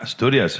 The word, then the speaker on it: Asturias: You're from Asturias. Am I pronouncing it right? Yeah, Asturias.